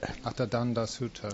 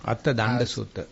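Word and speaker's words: Attadaṇḍa Sutta: Attadanda Sutta. Attadanda Sutta.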